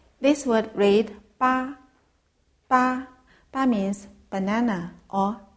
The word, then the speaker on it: 芭: This word read ba.